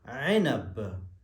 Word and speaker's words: عنب: کا مطلب ہے انگور، اور حرف العین کو ہم صحیح نطق دیں، عنب۔ موز، موز، موز کا